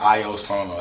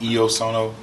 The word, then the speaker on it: Io sono: clothing brand uh yes uh it looks like i o sono actually i get it uh oh right now